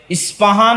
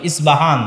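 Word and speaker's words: اصفهان: ইস্পাহান থেকে বের হবে ইস্পাহান হচ্ছে ইরানের নগরী আজও ইরানের মধ্যে ইসপাহান নামে সেই নগরী আছে আমরা প উচ্চারণ করি ইসপাহান আরবিতে এটা উচ্চারণ হয় না আরবিতে হয় আল আসবাহানী বা উচ্চারণ হয় ইসবাহান বাসবাহান সেখান থেকে 70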